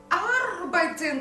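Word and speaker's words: arbeiten: Но если мы возьмем глагол арбайтен, как часто его все очень любят, только, пожалуйста, аккуратно делайте акцент ударения на первый слог.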